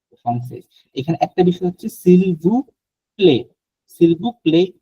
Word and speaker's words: s'il vous plaît: এখানে একটা বিষয় হচ্ছে সিলভু প্লে, সিলভু প্লে না টি নাই বলার সময় play, s'il সিলভু vous plaît.